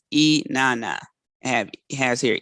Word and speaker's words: Inanna: i pronounce her name so it's e nana i have has here